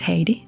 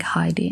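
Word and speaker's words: Heiti: name as you know i my name is haiti already it's written like h-e-i-t-i and people from different countries pronounce it very differently i think heidi and stuff like that and i was born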